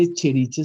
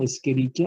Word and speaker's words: Escherichia: La enfermedad de Gaucher, de Tay-Sachs, la CH, como la Escherichia coli, no se dice Escherichia, sino Escherichia, esa CH suena como una Q, entonces la enfermedad de